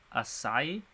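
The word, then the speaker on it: açaí: felt victim's body disappeared it's pronounced assai assai am I is that right huh okay not completely makes sense okay yeah asai asai Berry interesting all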